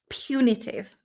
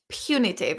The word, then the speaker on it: punitive: had the word punitive punitive like I still want to say punitive because it comes from the word punishment but no we have to change the pronunciation completely and we have to say punitive which is something that